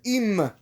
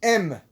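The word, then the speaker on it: אם: Targum Yonatan says here the word im should be pronounced em.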